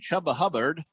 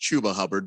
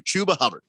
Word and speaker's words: Chuba Hubbard: carolina picked up a rookie running back named chubba hubbard uh who was decent in college please tell me that's true his name is pronounced chuba hubbard but yes shabba i like that i he's